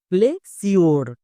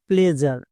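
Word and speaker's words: pleasure: বাট অনেকেই একে উচ্চারণ করছো। প্লেসিওর। প্লেস ইউর উচ্চারণ না এর উচ্চারণটা হবে প্লেজার।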